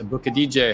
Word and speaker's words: Aboukhadijeh: Uh, for those of you that wonder how to say his name, it's think about like booking a DJ for a for a show or something like that.